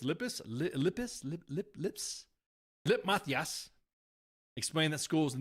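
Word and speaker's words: Lippes: It's spelled L-I-P-P-E-S. So it's Lip Mathias.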